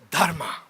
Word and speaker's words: Dharma: they called it Dharma you have to roll your R's to pronounce it right Dharma many things matter in